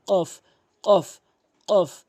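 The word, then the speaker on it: ق: এর সঠিক অর্থ হবে যদি আপনি কফটি জিহ্বার গোড়া উপরে তালু থেকে জিহ্বার গোড়া, জিহ্বার মাঝখান জিহ্বার গোড়া থেকে উপরের তালুতে ভালো করে বুঝবেন কথাটি। জিহ্বার গোড়া থেকে উপরের তালুর সঙ্গে যখন লাগাবেন তখন এভাবে উচ্চারণ হবে।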